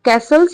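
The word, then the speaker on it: castles: ना तो नहीं बनाओ कैसल्स इसमें जो टी होता है व साइलेंट होता है ठीक है कैसल्स यानी कि किला तो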